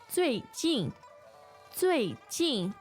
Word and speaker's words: 最近: Yeah, the pronunciation. 最 Z-U-I. Yes. 最 Yes. Yeah. a Fourth very tone. crisp and Yes. flat sound Yes. pronunciation. So both of these are fourth tones, right? Yes. And 近 J-I-N Yes. without the N-G nasal sound.